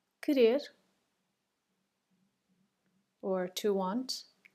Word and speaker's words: querer: Querer, querer, or to want. And in this case, the U is silent.